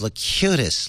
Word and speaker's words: Locutus: It's pronounced Locutus, Leo.